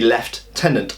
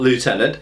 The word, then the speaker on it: lieutenant: problem is is that we still spell it Lieutenant we don't spell it left tenant now if we spelled it left tenant there's no issue but we spell it Lieutenant so if it's spelled Lieutenant it should be said Lieutenant now interestingly I find